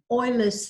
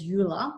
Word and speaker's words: Euler: to introduce you to euler's theorem some people refer to him as euler but he was german so it's pronounced euler and his identity this